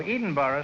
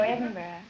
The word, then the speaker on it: Edinburgh: Illinois no edenburgh Scotland oh edenboro Scotland HH no Edinburgh oh Edinburgh well then I'll call you